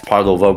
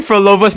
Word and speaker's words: Phrolova: like- Dude, you're pronouncing Phrolova's name wrong. It's Phrolova, not really? Phrolova. Oh, Phrolova. Phrolova. It's a PH. It's a Fro. It's a Phrolova.